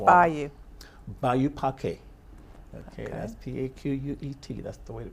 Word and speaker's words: Paquet: Okay, that's P-A-Q-U-E-T. That's the way to pronounce it.